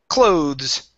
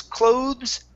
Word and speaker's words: clothes: word number one is clothes clothes right so when we pronounce this it is an o sound okay word number two is clock s that is an a sound it's clothes cloths clothes cloths okay